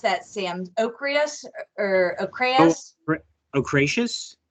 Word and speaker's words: ochraceous: But there's this, how do you pronounce that, Sam? Ochreus or ochreus? Ochraceous? Ochraceous.